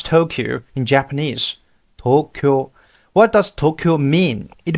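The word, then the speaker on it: 東京: answer our first three questions again how to pronounce Tokyo in Japanese Tokyo what does Tokyo mean it means the Eastern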